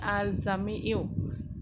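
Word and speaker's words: الجامع: আমি আবারও বলছি, আল জামিউ বর্গ জয়াকার ময়রস্যি অন্তস্তয় জফলা রস্যু, এই উচ্চারণটা হবে আল জামিউ।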